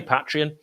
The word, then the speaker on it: Patreon: I want to say patreon I do I want to say it like that but I'm saying Patron because that's what everyone says and it really helps